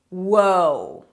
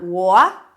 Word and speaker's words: whoa: And this one is whoa. Whoa, whoa, whoa, hold up, I don't think so. Different pronunciation. Can you hear? It's not wha.